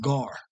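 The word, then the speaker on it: גר: It's just gar. Just gar. You don't need an E. Ga and a ra. Gar. All right. Now for the Greek, the Latin, yeah, you can learn how to pronounce the Latin. But for the Hebrew, there's no E's in Hebrew.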